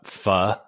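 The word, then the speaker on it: Pho: Audrey was talking about F and for those of you who don't know oh no f is spelled pH oh no it's a Vietnamese soup delicious uh mean I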